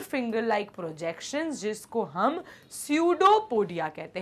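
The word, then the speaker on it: pseudo: क्या होता है स्टूडेंट्स ये जो वर्ड है इसको प्रोनाउंस हम सूडो कहते हैं तो सूडो का मतलब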